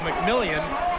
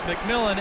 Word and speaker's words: McMillan: pronounces his name because it could go mcmillion but he says it's mcmillan and be ready to